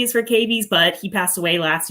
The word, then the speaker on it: cavies: Tell us a little bit about C stands for, is it pronounced cavies? Cavies, yeah.